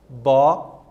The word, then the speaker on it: abóbora: Abóbora. Então, são 4 sílabas nessa palavra. Observe que, de trás para frente, eu observo que é a antepenúltima sílaba, acentuada, bó, certo?